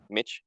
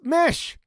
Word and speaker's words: Mish: Mitch? Hey, Mitch. what's up, Mitch? Mitch, we're calling him. It's Mish.